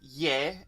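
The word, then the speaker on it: यह: about yah and vow in random regular conversational spoken hindi yah is pronounced yeah and vow is pronounced whoa so just be aware of that and if you're speaking probably just default to yeah and vote even though as written it'll probably be yah and vow so the next ones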